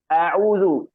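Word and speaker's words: أعوذ: A'udzu. Itu yang pertama hamzah A biasa, yang kedua ain.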